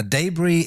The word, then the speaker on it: debris: Now, debris is a little tricky because it's not really pronounced in the same way that it's spelt, and that's as is the case with a lot of words that come from foreign languages. In English, we preserve the spelling, and this is a French word originally, which meant to break apart.